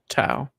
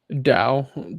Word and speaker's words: Tao: Oh, and Zesh finding his, remembering his true name rather than being called Zesh, he's Tao. Which is cool. Tao, yeah. Dao, depends how you want to pronounce it.